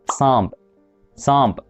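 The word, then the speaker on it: سانپ: نون وعليها نقطة عادي، بس بنبقى عارفين ان النون دي نون غنة بتتنطق كده ني، فاحنا بننطقها بالشكل ده. بتبقى في عدد كلمات قليلة جدا. مثال على كده كلمة صامب.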